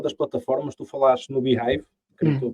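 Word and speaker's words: beehiiv: plataformas tu falaste no behive quer estou pronunciar L portanto B é h i v e não behave behive o que é que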